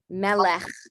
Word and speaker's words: melech: So it's kind of like meh, lech. It's got the sound at the end. But if the sound is too difficult, you can always just replace that with just a normal hey, or with normal H, melech.